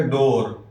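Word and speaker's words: door: روف۔ باب، باب دروازہ، ڈور، ڈور۔ اس کو ڈور نہیں پڑھیں گے، ڈبل او تو لکھا ہے لیکن تلفظ کریں گے ڈور، ڈور۔ جدار، جدار دیوار،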